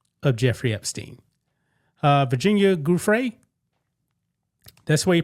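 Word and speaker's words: Giuffre: Uh, Virginia Gruff, that's the way you pronounce her name.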